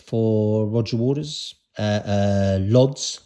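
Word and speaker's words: Łódź: Roger Waters uh uh lods or wads I think it's pronounced in Poland another concert I was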